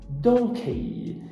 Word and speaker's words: donkey: dá vontade de falar ele não dá a pronúncia é Donkey o mais importante aqui é você não falar